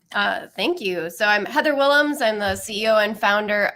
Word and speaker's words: Willems: No, that was Heather Willems. Okay. Yes, it's the Dutch pronunciation.